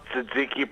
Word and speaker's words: Tzatziki: And by the way, you did pronounce Tzatziki properly when you said it.